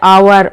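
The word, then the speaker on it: hour: जहां पर H silent होता है, आवर, ऑनेस्ट, ठीक है, वेयर, वैन, वाट, विच, यहाँ पर क्या होगा, जो एच है वो साइलेंट रहेगा।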